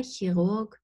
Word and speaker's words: Chirurg: compare words Chemie, China, Chirurg. And I actually don't pronounce the R. I say Chirurg or Chirurg, and Cheops, from Egypt.